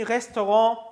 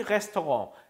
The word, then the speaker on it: Restaurant: Im Restaurant darf man nicht rauchen. 자, 레스토랑 저건 프랑스어기 때문에 발음상 여러분들이 조금 낯설 수 있어요. 써 있는 거하고 철자하고 발음이 좀 다르죠?